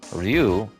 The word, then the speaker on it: Ryu: if you noticed but Ryu is dragon in Japanese kind of like Ryu in Street Fighter that's what ryu's name is supposed to be pronounced like and another thing I